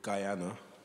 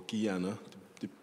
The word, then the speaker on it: Guyana: So, before we play this piece, I should explain that my folks come from a place called Guyana, or Guyana, depending on your pronunciation, not to be confused with Ghana, which is often the case.